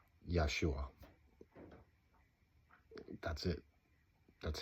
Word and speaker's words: Yeshua: I think that you need to understand that Yeshua does not translate into that name. It does not transliterate into that name. It was pronounced Yeshua.